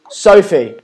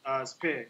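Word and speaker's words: Sphe: Sophie, how are you? Is it Sophie? Yeah. Hey, stand up. Oh, not Sophie. It doesn't sound like a Sophie, but it's a S-P-H-E. Yes, Spear.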